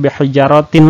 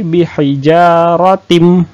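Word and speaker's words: بِحِجَارَةٍ: tanwin bertemu dengan mim bacanya bukan behel jarotin lagi tapi bihijaratim nah bihijaratim ditahan seperti itu ya nak ini ayat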